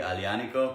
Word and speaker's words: Aglianico: you say it correctly I Liana Co people will never look at that they never read it right because there's a G in there you don't pronounce it with a G it's awesome people like